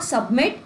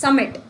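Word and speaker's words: submit: अब ये जो सबमिट वर्ड है ना, इसमें जो बी आता है ये भी साइलेंट होता है ना। आप में से कई जने इसको सबमिट कहते हैं, नहीं, इट्स नॉट सबमिट, इट्स समिट।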